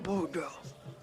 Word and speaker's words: Boudreaux: The boo is for beautiful, and the dro in case you didn't know I was real.